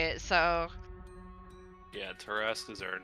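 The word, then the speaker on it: Tarrasque: Tarask. Ass. Like harass. Tarask. Great, we're fighting that at some point, aren't we? I get to listen to Matt Mercer say it, so... Yeah, Taraskas are not something you want to fuck with.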